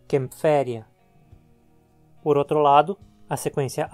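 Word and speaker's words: Kaempferia: Empréstimos de línguas que usem A com trema ou a ligadura AE, principalmente as línguas germânicas, são adaptadas com as letras A e E e pronunciadas como um E também. Um exemplo é o sobrenome alemão Kämpfer, de onde deriva o nome genérico Kempferia.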